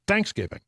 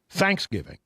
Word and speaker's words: Thanksgiving: That's a Texas way of saying it. Texans often put the emphasis on the first syllable. Yeah. And so it was Thanksgiving.